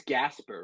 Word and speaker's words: Gaspare: want to say is it's Gasper right yes yes yeah I have been saying your name wrong on every podcast so that's this is me apologizing ahead of time uh I've been saying Jasper and I don't know what it is like I just kept on saying J and like I was